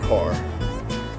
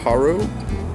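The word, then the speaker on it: Harrow: He said, "Section, H-A-R-R-O-W, section har." I'm like, "Section haro?"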